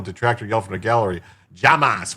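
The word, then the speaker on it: jamás: yelled from the gallery, Llamas, which Spanish word translates to never, but is pronounced like Hamas in English, also the name of the Palestinian terror organization, Hamas.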